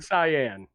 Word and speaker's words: cyan: Cayenne a kind of I think you mean cyan it's cayen that's the color Kayan is definitely a pepper yeah I studied graphic